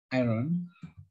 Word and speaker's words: iron: that is made of iron yes the r is silent oh oh right right silent